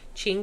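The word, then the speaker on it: Qing: to the Ching Dynasty I think that's how you pronounce it q i n g Ching Dynasty and he went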